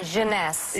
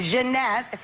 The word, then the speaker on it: Jeunesse: called instantly eight ageless what's the company honey pronounce the Jeunesse Jeunesse various makers and it's less than $75 retail